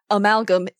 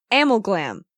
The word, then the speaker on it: amalgam: I first saw amalgam even though Pearl says amalgam in the episode when I saw the track I pronounced it is a ammo Glam because I can't read and I pronounce it